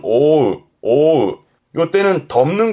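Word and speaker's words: 覆う: 뜻으로 쓰게 되면 뒤에 우가 나올 때 발음은 오우, 오우.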